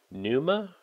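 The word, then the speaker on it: Pneuma: Next is Numa, I guess, because of P is silent. Breath of Life. I thought it was like pneumonia, but it's not that, it's Numa.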